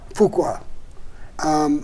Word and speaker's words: Fuqua: Fuqua.